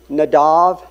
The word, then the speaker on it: Nadab: and Strange Fire now nadab and abihu it's actually nadav and avihu is the Hebrew pronunciation these were the the